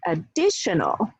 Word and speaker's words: additional: Actually, we add two suffixes, shun as well as ol, and we get additional. Additional, so it becomes the stressed syllable now. It shifts from added to additional.